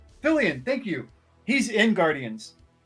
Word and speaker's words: Fillion: Oh, speaking of Fallon. Wait, no. How do you say his last name? Fillion, thank you.